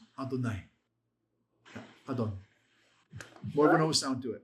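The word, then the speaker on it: אֲדֹנָי: Adonai.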